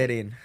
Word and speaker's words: Calderin: Calderin.